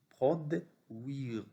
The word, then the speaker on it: produire: U-I se prononce oui. Produire comme lui.